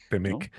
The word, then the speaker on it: T-MEC: timec temec cómo lo cómo lo pronuncian en español decimos temec temec y está el tema